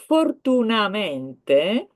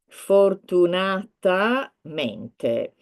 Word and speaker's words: fortunatamente: So fortunamente, if you can hear here, if you can read here, fortunamente. If somebody wants to say luckily or fortunately. However, as I said, there is a syllable missing. It is not long enough. Fortunatamente.